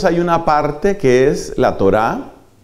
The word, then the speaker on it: Torá: No utilizaban la expresión ley, sino utilizaban la expresión la Torá, la Torá. Eso se escribe T-O-R-A-H.